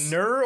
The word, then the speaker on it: gnurr: Did you verify the pronunciation? Because is it gnurr or is it gnurr?